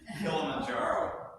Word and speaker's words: Kilimanjaro: it I need your help I'm so much pronouncing the largest freestanding mountain in Africa um thank you yes what Peter said Kilimanjaro I know Kim that's the mountain um early